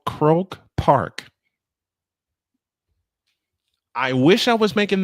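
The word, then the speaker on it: Croke Park: E at a place called Croak Park. I wish I was making this up. Croak Park. It's probably pronounced different. No, you pretty much got it.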